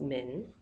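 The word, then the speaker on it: 门: a few weeks ago and that's pronounced Min so this tells you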